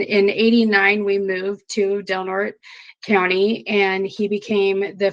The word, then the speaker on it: Del Norte: I thought it was Del Norte. I butchered that one. Del Norte County Fair.